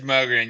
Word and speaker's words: Mogren: Is it Mogrin? Am I pronouncing that right? It is Mogin.